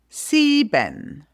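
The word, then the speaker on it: sieben: Seben. Eight. A nine. Nine. 10. So you spell it Z or Z.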